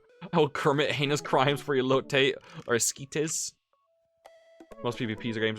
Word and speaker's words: elote: Elote is the correct pronunciation.